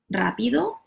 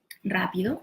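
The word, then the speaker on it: rápido: when they are is at the beginning of the of the world like rapido rapido so this is also rolling are the rapido or when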